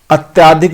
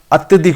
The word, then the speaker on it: अत्यधिक: अत्याधिक दुख का अत्यधिक होता है। अत्याधिक नहीं होता। अत्यधिक होता है।